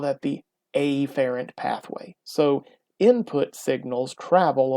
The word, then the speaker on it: afferent: i say efferent what i like to do is be really really stressed on that first letter i will say afferent or efferent and that's not really the way that they're pronounced normally it is afferent or efferent but those don't really sound too much different so i overdo it afferent and efferent so how do we